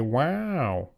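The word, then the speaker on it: WAU: just sounds so stupid it's calling it wow because it's spelled w Au so you just kind of have to say wow also the whole like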